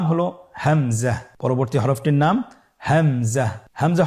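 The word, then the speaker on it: همزة: পরবর্তী হরফটির নাম হামজা। হামজা হরফটি উচ্চারণের ক্ষেত্রে বারিক করে উচ্চারণ করতে হবে এবং এখানে টেনে পড়া যাবে না।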